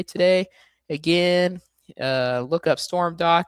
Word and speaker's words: Stormdok: I always say it's like storm and then dock like the boat dock but without the sea.